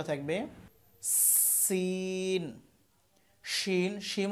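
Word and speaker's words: ش: শিনের উচ্চারণটা হবে আওয়াজ ছড়াবে, এটা হচ্ছে তাফাসসির হরফ, আওয়াজ ছড়াবে।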